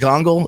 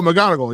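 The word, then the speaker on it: McGonagall: Um she playing Mongle. Is that how you say it? Oh, McGonogal.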